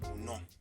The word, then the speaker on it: non: Let's pronounce yes and no in French. Oui. Non.